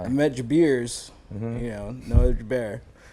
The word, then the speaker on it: Jabair: So it's actually Jabair, Jabir.